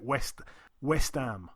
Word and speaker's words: West Ham: Everyone in London speaks a bit we don't even pronounce the H because it's too long. We just call it West Ham, and that's what we call them. West Ham.